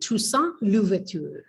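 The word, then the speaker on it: Toussaint: by an ex-slave named tusa tusa is t o u s s a i n t in english it looks like two saint t o u s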